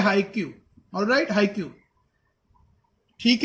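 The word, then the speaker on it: haiku: सो इट्स हाइकू, हाइकू, proper pronounce, it's नॉट हाइक्यू, इट्स हाइकू।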